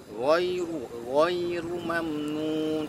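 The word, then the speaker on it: غَيْرُ مَمْنُونٍ: Nah, ghairu mamnun, perhatikan ghai jangan ghai tapi ghai, ghainya tebal ya, ghainya tebal, ru-nya tebal juga, mamnun ya.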